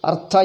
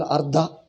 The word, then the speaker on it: Artha: If you pronounce wrongly, Granth, Artha you call Ardha, then all non-Telugu people will not be able to understand.